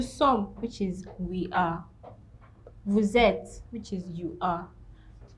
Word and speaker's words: vous: Vous êtes, which is you are. Now, you notice that we didn't pronounce the S in vous there.